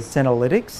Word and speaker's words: senolytics: So I want to make sure I pronounce it right. Senolytics. Am I saying that correctly? Senolytics? Yes.